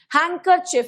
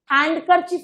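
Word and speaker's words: handkerchief: हैंकरचिफ, इसकी स्पेलिंग में भी बहुत गलती होती है, स्पेलिंग है तुम्हारे सिलेबस में। हैंकरचिफ का देखो क्या हो गया, हैंकरचिफ्स। हैंडकरचिफ नहीं पढ़ते ना, हैंकरचिफ, डी साइलेंट रह जाता है।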